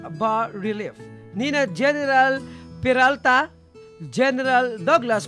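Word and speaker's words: bas-relief: public art pieces o bus relief sculpture pronounced as bar relief yun pala ang tama It's bar relief nina general Peralta general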